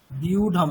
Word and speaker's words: व्यूढं: আর দ্বিতীয় শব্দটা কিরকম दृष्ट्वा আছে, तु পাণ্ডবানীকম, পাণ্ডবানীকম, युद्धं বিউঢম, ওখানে কি আছে, ওটা বিউঢম, ব আছে প্লাস ইয় আছে, তাহলে কিরকম হবে উচ্চারণটা, বিউ, বিউ, ঠিক আছে, युद्धं বিউঢম, বলুন বিউঢম।